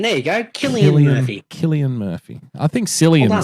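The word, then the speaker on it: Cillian: as well Jim's in the chat green it's pronounced Killian klian there you go kilan Murphy Killian Murphy I think San sounds better so we're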